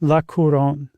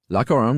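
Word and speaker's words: La Couronne: Uh, how do you pronounce that, Josh? Laoron. Lacoron, which is the Crown.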